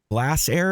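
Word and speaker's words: Glasair: He survived a crash landing of his Glass Air. Is that how you pronounce that?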